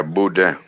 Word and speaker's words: boudin: makes the best boudin is that how you pronounce it yeah boudin man there's a lot of places to make